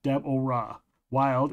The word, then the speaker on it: Deborah Wild: I've been told specifically it's pronounced Deborah Wild is a former screenwriter and author of a handful of paranormal and urban fantasy books.